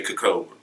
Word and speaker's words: Kcobra: You can say, most people say Kcobra. I don't know why, but some people say it like that.